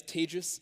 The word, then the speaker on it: Tejas: mentioned my name is tejus that's pronounced like contagious um I can say